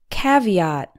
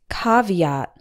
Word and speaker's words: caveat: in C and ahhed we pronounced with the same sound as in hot caveat some people might also pronounce this caveat both forms are correct caveat and caveat number two choir this